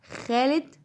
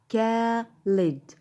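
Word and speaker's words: Khaled: ماشي، بس هقوله خالد، هقوله خالد. هل ان انا هنطق الكي اتش خ؟ لا، هنطقها ك. يبقى الكي اتش هيتنطق معايا ك. هنطقه ازاي؟ كالد، كالد، كالد. خلاص مش هقول خالد.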